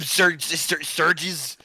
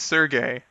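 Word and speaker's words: Sergei: God, you had one job, Serges. Surges. I don't know how to say his. I don't know how to say his name. It's Sergey.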